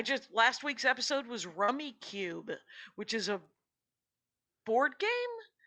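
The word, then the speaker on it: Rummikub: target yesterday it's for sale you could buy rummy cube right now it's spelled k-u-m by the way rummy cub but rummy cube is how it's pronounced and it's rummy but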